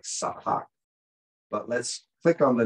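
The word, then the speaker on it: צחק: It looks like sahak, but let's click on the number. Okay, there's sahak. Let's hear the man try to pronounce the word for us. Strong's age, 6711.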